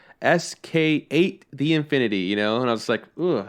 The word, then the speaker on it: SK8 the Infinity: told me how to pronounce it and it's pronounced sk8 the infinity so and i was like oh cool all